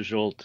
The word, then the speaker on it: Zsolt: yes I listen to anything that's close to jolt so perfect fantastic fantastic so it's a pleasure to have you here because jolt is a Creative Learning consultant at Keno with